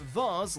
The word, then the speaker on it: vase: can pronounce this word whether it's said vas like Mars or the like Hayes generally I don't say